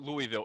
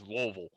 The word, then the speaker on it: Louisville: It's like some of y'all say Louisville. It's not Louisville. It's Louisville. If you're moving your mouth, you're saying it wrong.